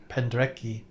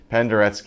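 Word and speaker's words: Penderecki: Oh, I didn't know that's how you pronounced the name. I thought it was Pendreki. Penderki is the name.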